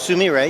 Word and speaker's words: Sumire: just tell us a little about what the Sameer a are all about I said Samara is a huge departure from us first of all it's pronounced Sumi ray you got it right very good and it's